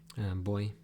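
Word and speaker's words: voy: B you say boy it's written with a V but you say boy not boy o or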